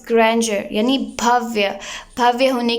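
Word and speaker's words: grandeur: ग्रैंडर यहाँ पर D pronounce नहीं होगा।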